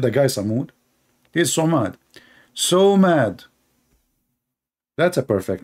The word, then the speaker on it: Somad: Somad, not Samud. What the heck, Samud? You made the guy Samud? He's Somad. So mad.